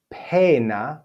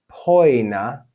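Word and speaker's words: poena: We have pena, or in classical it would be poina, poina.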